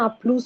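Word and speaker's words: à plus: ভাইয়া ও তো আপলু বলছে না আপলুস বলছে? এটা প্লুস, আসলে পুরোপুরি প্লুস বলে না, আপলু এরকম আপলু। ভাবে বলে লাস্টে। ও প্লুস লাস্টের বলছে? হ্যাঁ, না ওই লাস্টে এসটাকে উচ্চারণ করবে না, আপলু।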